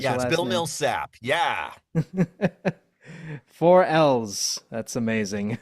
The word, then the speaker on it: Millsap: Is that how you pronounce? Yes. Bill Milsap.